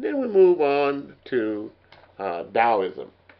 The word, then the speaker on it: Taoism: And then we move on to Taoism. Taoism, it starts with a T, but it sounds like the sound comes out as a D. Again, Taoism around 550 BC.